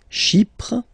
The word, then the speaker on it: Chypre: Chypre, same thing here. Chypriote. She, remember this Y is pronounced like I, okay?